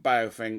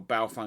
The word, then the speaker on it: Baofeng: So this radio here is a UV5R from Baofeng, or Baofeng, however you want to pronounce it.